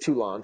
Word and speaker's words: Toulon: So that's pronounced Toulon for you Anglophones out there.